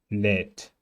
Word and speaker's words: lädt: DT ist T. Lädt. lädt.